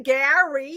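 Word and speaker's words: Garry: Gary, but it's with 2 R's. Oh, so you gotta pronounce the other one. You gotta say Gary.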